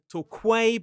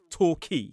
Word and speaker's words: Torquay: It looks like toquay with that qu u a y toqu but it is not. It is torqui.